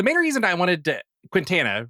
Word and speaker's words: Quintana: It's Spanish, so it's Quintana, but my whole family just says Quintana and it's easier.